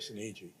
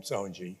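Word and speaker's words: Sinise: I said Gary Sani. So then of course in the film they call him soni.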